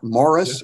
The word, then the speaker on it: Maurice: a Merchant Ivory film called Maurice or Morris as they pronounced it in based on